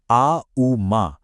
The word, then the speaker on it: ॐ: तुरंत जवाब देती है ओम। लेकिन ठहरिए सिर्फ ओम नहीं बल्कि इसका बिल्कुल सटीक ध्वन्यात्मक उच्चारण आ उ मा और पता है क्या हुआ?